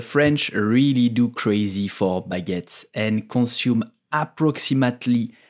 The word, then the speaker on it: baguette: with French and French so how do you pronounce the name of this delicious bread in French we will say baguette baguette but yet and if you are in the bakery you